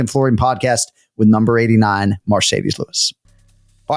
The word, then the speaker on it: Marcedes: it is indeed pronounced marcedes and not Mercedes like the Benz is that right correct